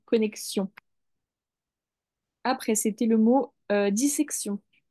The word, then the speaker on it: connexion: ça s'écrit comme ça là il y a bien le le X qui faitieux connexion après c'était le mot